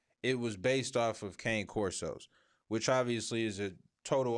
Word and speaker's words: Cane Corso: a Cane Corso. That's what it's. That's how you say it. But a lot of people say Cane Corso.